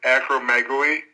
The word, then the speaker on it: acromegaly: actually very typical michael the pronunciation is acromegaly and actually when i